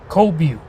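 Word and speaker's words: Qobue: The next station is Cobu. It's spelled Q-O-B-U-E.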